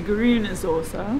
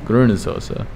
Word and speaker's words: Grüne Soße: The Grüne Soße. Grüne Soße.